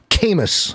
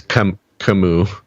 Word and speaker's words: Camus: in 2011 by reynaud kamis a french writer it's camus you know whatever french no it's not getting out